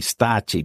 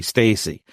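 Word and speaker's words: Stacci: proper pronunciation would be stachi because he's Italian you know but I've heard it anglicized to be Stacy but yes that's essentially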